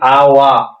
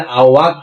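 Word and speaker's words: awak: আপনারা এই আওয়াই বলবেন, আপনাদের আওয়াক বলা লাগবে না।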